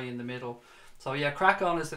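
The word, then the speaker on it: Craic On: It is called Crack On. That's the name of the new pod though. It's spelled C-R-A-I-C-O-N. So Crack On being obviously, you know, crack on, good laugh.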